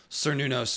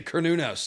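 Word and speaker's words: Cernunnos: So I now force myself to say Cornunos to be accurate. Like a kernel of corn.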